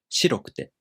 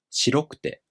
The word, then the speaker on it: 白くて: In the traditional way, the accent falls on し, 白くて. But in a new way, the accent falls on ろ, 白くて.